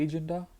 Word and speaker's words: Agenda: Agenda, the word is the same in German, but pronunciation is different. So it is agenda, and it is die Agenda.